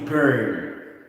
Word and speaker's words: burn: you are trying to burn. That's the point. Okay? B-U-R-N, not born na tao. Burn. Okay? Something like that. How can I pronounce? Burn. Ganun. Burn. Kasi B-U-R-N, diba?